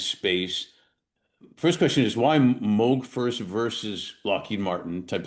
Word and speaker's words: Moog: Um your career started at it's pronounced Moog, right? Moog. Yes, you said it correctly.